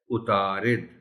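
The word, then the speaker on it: عطارد: کو پڑھا میں نے اتارد پڑھا، یعنی رے کو زبر کے ساتھ اور عین کو بھی زبر کے ساتھ۔ اب صحیح لفظ ہے اتارد۔ ماہرین، ہے کے نیچے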